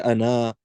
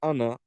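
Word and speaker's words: أنا: As we mentioned before, the alif of ana, the third letter, is actually a silent letter. It's actually not pronounced. We don't say ana, we just say ana.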